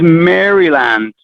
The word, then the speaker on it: Maryland: the other one is maryland which everyone in america says maryland maryland i don't even have the d and it's always funny